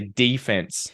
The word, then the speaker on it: defense: But the interesting thing is how you guys changed the emphasis and I think even the vowel pronunciation, right? So you would say defense and offense.